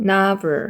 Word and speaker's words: novel: 그 다음에 이 소설은 이렇기 때문에 this라는 지시형사 쓰고 그 다음에 노벨이라는 소설을 쓰는데 얘는 노벨이라고 읽으면 안 되고 읽을 때는 novel이라고 읽으셔야 됩니다. novel. novel이에요. 노벨 아니에요. novel 하고 물음표 써주시면 되죠.